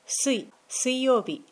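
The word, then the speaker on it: 水曜日: 曜日の時は水曜日と読みます。Thursday は木曜日です。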